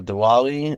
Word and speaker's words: Diwali: I'm pretty sure too when it comes to Dali or or Dali sometimes it might be pronounced with a V and um it's that when when someone um walks up to someone during dwali and says happy holidays